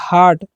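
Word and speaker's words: heart: तो एच का ह करना है। ए का आ क्योंकि ए के जस्ट बाद आर है इसलिए हम अ करेंगे उच्चारण। टी से ट और आर जो है ना उसका रेफ कर देना। तो हो गया हार्ट।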